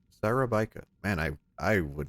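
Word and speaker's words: Szarabajka: His last name is pronounced Sarabika. Sarabika.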